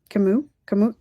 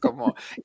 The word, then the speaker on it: Camus: I think it's pronounced, how do you pronounce Camus? Camus. Albert Camus. Sure. Camus?